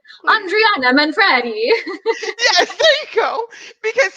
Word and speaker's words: Andriana Manfredi: Will hopefully he will hear this and realize that it is Andriana Manfredi.